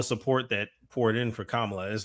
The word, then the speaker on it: Kamala: Here's a question though: all of these, let's say, new supporters of Kamala. Pronounce her name?